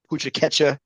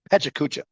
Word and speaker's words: Pecha Kucha: And all of the solid effort, and Alicia for your awesome pucha ketcha. Is that how you say it? Right? Is that how you say it? Pucha ketcha? Pecha? Other way around. Pecha kucha.